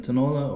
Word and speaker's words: tinola: it ladies and gentlemen this is chicken tinola this could be called chicken tanola or tenolang manok is the filipino pronunciation it's chicken that's been